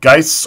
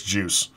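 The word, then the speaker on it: Guice: Is it Geis or Juice? I've heard it pronounced both ways. I want to say it's Juice.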